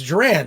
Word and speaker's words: Joran: uh he reminded me he says joran like duran duran so he says everybody